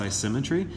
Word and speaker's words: isometry: a nice symmetry it's spelled isometry but we pronounced I symmetry that is a congruent transformation the figures themselves